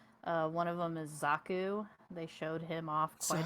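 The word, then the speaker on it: Xaku: one of them is zaku they showed him off quite a bit yeah it's spelled x-a-k-u not z-a-k-u so it's not that's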